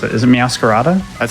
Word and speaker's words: Meowscarada: Is it Meowscarada? That's how I say it. Because it's supposed to be like a masquerade, but it's a masquerada.